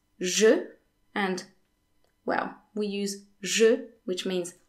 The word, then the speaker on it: je: So, je in French is often pronounced sh. So, for example, instead of saying je fais les courses, I'm doing the shopping, most French people would say je fais les courses, je fais, as if je was spelled S.